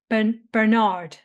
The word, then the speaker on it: Bernard: It's pronounced Bernard.